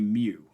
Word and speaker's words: mu: I don't care how you spell it. It's pronounced mu.